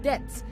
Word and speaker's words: debt: said but is Elite it is debt the be in debt is silent it is not depth okay it is depth